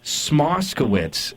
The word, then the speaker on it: Smoskowitz: If you spell out the name and just sound it out as if you're like in grade one or two learning how to read it. It is it sounds exactly how it's spelled.